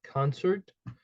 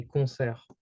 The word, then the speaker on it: concert: Either way, in English you would pronounce every letters, so you would pronounce it like concert. In French it's more specific, so you would say concert. Okay. So here you cannot hear the T. It's basically silent, or you can call it mute.